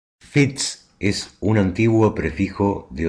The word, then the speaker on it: Fitz: del latín filius deriva la palabra francesa fish y la pronunciación normal está para ese nombre es fitz aunque después ese prefijo